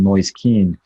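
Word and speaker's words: Moise Kean: also just brought in noise keen and that is actually the correct pronunciation go noise keen some more take notes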